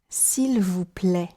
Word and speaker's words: s'il vous plaît: Then, for the letters AI, as appear in s'il vous plaît, try pronouncing E, s'il vous plaît.